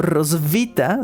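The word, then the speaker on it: Roswitha: Creo que más bien es como Rosvita. Sí, Rosvita porque es eh quiero nada más que la gente que nos esté escuchando entienda, se escribe R o S h i t a. Entonces, mi cerebro todo el tiempo durante toda la investigación lo leyó como un muy deforme rosita, ¿no?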